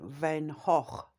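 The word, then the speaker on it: Van Gogh: memories of things like say the Beatles or Van Go van Van Hawk as it's pronounced um and you know like Da Vinci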